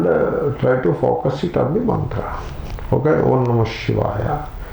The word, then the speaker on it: Shivaya: They make this ya into halanta. This is this is coming from certain vernacular way of pronunciation, which is all right in the vernacular context, but not accepted in the Sanskrit context. Therefore, don't make it halanta. Don't cut that yakara. Keep it full.